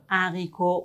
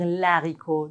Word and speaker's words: haricot: Le livre, le haricot, on ne doit pas dire l'haricot. Non, c'est comme les consonnes.